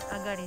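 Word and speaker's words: 東: So, higashi janakute agari ne. Kanji de mo sama-sama hurufnya kanji, tapi yang kata bacanya jika beda ya. Ya padahal sama-sama ini loh, tulisan-tulisan kanji ya. Higashi, jadi bukan higashi, agari.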